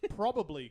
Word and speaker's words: probably: don't even you don't you don't even pronounce probably correctly there's a lot of bees in there you guys just pronounce that P ro l ly Americans are